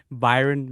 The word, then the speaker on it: Bayern: Is it Byron Munich? Is that how you pronounce it, Jimmy?